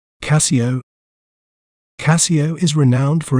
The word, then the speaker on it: Casio: We may pronounce it as Casio, Casio, Ca, C, O. Casio.